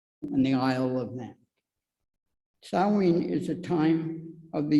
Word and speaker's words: Samhain: Halloween, as we know it today, started as a Gaelic pagan tradition and was called Sow-win, actually spelled Samhain, but it's pronounced Sow-win.